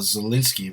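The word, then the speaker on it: Zelensky: president of ukraine uh zielinski right is how you say oh yeah what are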